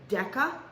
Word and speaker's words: deca: have three different prefixes deca hecto and kilo oh you heard of that one right deca means 10 and it's a hardca not a soft c hecto means hundred and